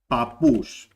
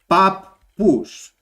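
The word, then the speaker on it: παππούς: In ordinary Greek, when you pronounce this word, you will pronounce it as papa, and then papous, papous. So you are pronouncing it as if it has one P over here, as if there is only one P over here. Whereas in Cyprus, they pronounce it as, and this is the correct way, papous. Okay, I said it slowly, papous, papous.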